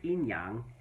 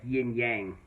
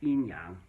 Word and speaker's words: yin-yang: Yes, these are the same yin and yang in the famous Chinese phrase, yin yang, or more commonly in English pronounced like yin yang, but the original Chinese is more like yin yang.